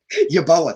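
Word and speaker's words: Yeboah: not sure what i'm saying yeah kenny boa yoboa thank you yeah appreciate that let's say right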